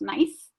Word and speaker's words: gneiss: They were subject to pressure and high temperatures, creating what are called metamorphic rocks, such as granite, gneiss, which is G-N-E-I-S-S, pronounced nice, schist, and marble.